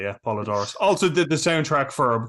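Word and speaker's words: Poledouris: Stewart, with the music by Basil, I always pronounce his name wrong, Podadoris. Brian, I'm going to turn that over to you. How do you pronounce his surname? I would say Polydorus as well. Yeah, that sounds. Right. It sounds right. Polydor, like I'm pronouncing it phonetically.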